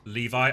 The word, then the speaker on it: Levy: Levy is pronounced like Levi. Oh, like the jeans.